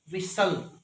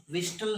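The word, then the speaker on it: whistle: Silent T क्या है, देखो विसल, विस्टल नहीं, विसल, फास्टन, फास्टन नहीं। देखो हम फॉलो करते हैं,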